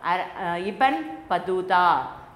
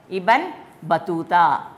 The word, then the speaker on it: Ibn Battuta: Another important traveler, Ibn Battuta. He was an Arab traveler. Say all of you, IBN. IBN enna sonna Ibn. Ibn Battuta.